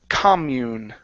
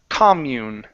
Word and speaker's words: commune: Um and our last one here is commune. Okay. Comm stress is at the beginning. This is a noun. Commune.